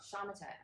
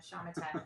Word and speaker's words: Shamatha: Shamatha. I'm sorry. Shanaka. Shamatha. It rhymes with Shana. Shamatha.